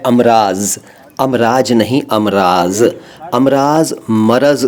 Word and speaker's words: मरज़: और अब एक वचन वाले शब्द का ये है कि मरज़ को नादान लोग मर्ज़ बोलते और लिखते हैं।